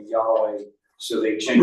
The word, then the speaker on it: Yahweh: The J, we get confused because in German, the J is pronounced as a Y. Right, So we come over here to English. Yahweh, you say- Yahweh, use the J, Yahweh.